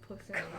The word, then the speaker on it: Posaune: I say posaune. Posaune. It's like a German word Okay. for trombone.